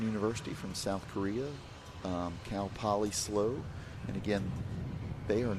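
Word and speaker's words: Cal Poly SLO: Um, but they're, you know, they just shorten it to S L. So they're always known as CalPoly slow because it's so much harder to say the the whole Cal California Polytenic State University St.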